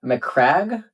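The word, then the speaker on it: Macragge: So it's a very orderly, Roman-esque planet, and that's McCrag, I think, is how it's said.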